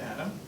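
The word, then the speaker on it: אדם: We know at least a few people named Adam. In Hebrew, it's pronounced Adam.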